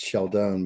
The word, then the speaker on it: Scialdone: tonight is Dr Shalon I think I said it right huh yeah yeah yeah that's I think it it's in in English it's sheldone because the E is silent like Stallone the E is silent